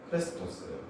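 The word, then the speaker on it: χρηστός: 자비는 헬라어 단어로 앞에 보시면 크레스토스예요. 그리고 이 크레스토스라는 단어는 마찬가지로 친절하는 뜻도 가지고 있고요. 근데 기독교인이라는 단어를 보면 그리스도인은 크리스토스, 딱 리와 에, 요 발음 한 끗 차이예요.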